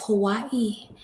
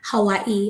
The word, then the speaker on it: Hawaii: the form of well the guardian owl of Hawaii that's the correct pronunciation I actually found out from the Hawaiian people out here Hawaii I think Hawaii that's how they say it